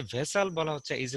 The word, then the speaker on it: vassal: তাহলে এই যে শব্দটা আমরা দেখতে পাচ্ছি ভেসাল, এর উচ্চারণটা হচ্ছে ভেসাল, VASSAL।